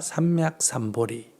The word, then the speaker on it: 삼먁삼보리: 인도말로 그대로 아뇩다라 삼먁삼보디 버디는 발음이 우리 식으로 하면 보리라고 나옵니다 그래서 아뇩다라 삼먁삼보리 그러니까 최상의 깨달음을 얻겠다고 마음을 냈다